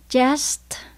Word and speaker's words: chest: Chest là ngực. Mình phát âm có chữ S và chữ T luôn nha các bạn.